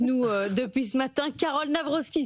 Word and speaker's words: Nawrocki: depuis ce matin, Carole Navrovsky. Si on le dit comme ça, c'est correct. C'est correct.